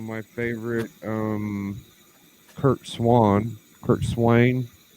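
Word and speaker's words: Curt Swan: favorite um kirk swan kurt swain that's how doc told me to say his name kurt swain i've never heard it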